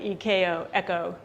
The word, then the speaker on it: echo: It's pronounced like EKO, echo.